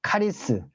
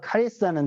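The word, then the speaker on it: χάρις: 은혜는 이제 뭐 히브리어로는 은혜를 여러분 그 히브리어 발음으로 하나입니다 하난 헬라어로는 카리스 카리스는 들어보셨을 겁니다 카리스는 단어는 카리스 잠깐 여러분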